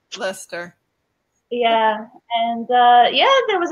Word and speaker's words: Leicester: the Leicester vegan festival and those were offered leister I always thought it was leister yeah and now they pronounce it lustre okay it's confusing it looks like light sister but it's actually Lester Lester yeah and yeah there was a really good